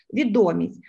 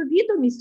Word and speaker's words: відомість: Якщо це відомості якісь ми отримуємо, відомості про щось, якусь інформацію, ставимо наголос відомість. А якщо відомість отримали, якусь залікову відомість, сфера офіційно-ділового стилю, так? То відомість. Тут будете розрізняти, це два різних слова.